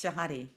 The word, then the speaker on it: Shahade: It's shahadi rhymes with body.